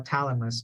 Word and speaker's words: thalamus: one is thalamus yeah th not th so if there's only ta then you call Thalamus but you just have th then you have to say Thalamus okay um your your tongue should be in between right Thalamus right Thalamus